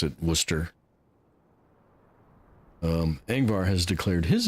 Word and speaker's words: Worcester: without the shire on the end but they pronounce it Worcester.